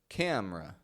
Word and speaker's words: camera: camera to activate camera you don't want to say camer cam or camera but rather camera as if the E is gone the next word to